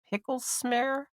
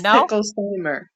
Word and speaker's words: Picklesimer: up your last name is it pickles smar pickles smar no no it's picklesimer pickle Simer okay pickle